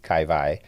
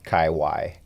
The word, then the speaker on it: Kai Wai: Kai y KV um if you're coming from Hawaii the W is always pronounced a V kaii and most of the other part of the world it'd be kaiwi so we don't there's